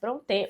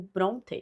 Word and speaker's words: Brontë: li, é Jane Eyre, de Charlotte Brontë, ou Bronte, enfim, como preferirem aí na pronúncia.